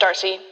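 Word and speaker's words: D'Arcy: Is that how you pronounce her name, DRC, or is it Darcy? It is just Darcy.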